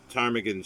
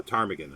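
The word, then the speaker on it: ptarmigan: a bird there a tarmigan i guess yeah or i should say tarmakin i think that's the right pronunciation tarmigan it's like smith in woodhouse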